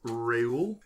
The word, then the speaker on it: Reuel: Tony, tell us a little bit about Reuel. Yes. Am I pronouncing that right?